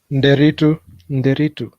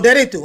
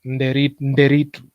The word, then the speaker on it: Nderitu: So the N is silent. Okay, the N is silent. No. It's no. The N is not silent. You have to pronounce all the letters like Nderitu.